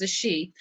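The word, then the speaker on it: Àṣẹ: So I say Ashe, and that's spelled A-S-E with a little tilde over the E. Some people will throw an H in there.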